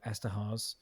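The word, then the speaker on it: Eszterhas: we can talk about Joe Esterhazy, also rhymes with house, if you want it to make it that way.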